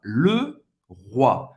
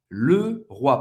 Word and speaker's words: Leroy: O Y em francês, o O-I tem a pronúncia do wa.